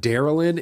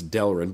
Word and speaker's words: Delrin: I said Darrell in I just used to mispronounce basically everything and I mean I still do but at least I know now that it's Delrin but they're right it's